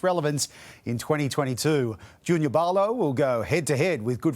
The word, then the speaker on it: Paulo: It's Paulo. Paulo, like with a B almost? Yeah, so in our culture, our language, the P is pronounced with B for Bob, so it's Paulo.